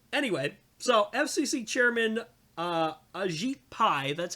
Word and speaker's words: Ajit Pai: yeah um anyway so FCC chairman uh Ajit Pai that's how you say his name um so